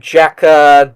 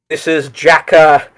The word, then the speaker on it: JAKQ: This is Jaka Dengeki Kai. That's spelled JAKQ as in Jack Ace King Queen.